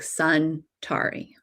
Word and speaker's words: Centauri: When we think of Centauri, they spell it like centaur, but the Centaurians always say it's sun, S-U-N, like sun Tari, okay, because it's the 3 suns.